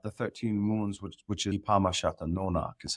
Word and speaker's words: Kunâhneepamuhshâtunônak: So since you brought up the 13 Moons, which is Ipama Nonak, is how you say that in Pequot, which is actually translates to our moons.